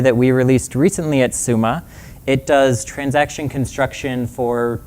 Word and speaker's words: Summa: We settled on the pronunciation Summa because if you say it the other way, it sounds like we're saying, I'm the CEO at some company or other.